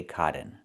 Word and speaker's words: cotton: And you cannot say cotton. You can use a real T and say kitten, button, and cotton. Or do the stop T and fall to the N.